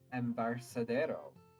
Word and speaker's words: Embarcadero: as they walk as they walk down the Embarcadero yep that's how it's pronounced and if you disagree and this is